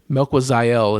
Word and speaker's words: Melquizael: We're like Melquizael, and it was like Melquizael is how they announced it live.